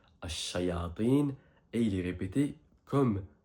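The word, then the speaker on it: الشياطين: Je rappelle que ça se prononce Ash-Shayatin, et il est répété comme Al-Malaika 68 fois.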